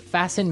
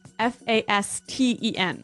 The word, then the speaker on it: fasten: interesting yes it's spelled f a s t n right so it would be Fast N no no right fasten fasten the T kind of becomes silent so it's fasten yep